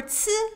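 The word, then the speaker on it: ㄘ: For ci, think of a putz without the p.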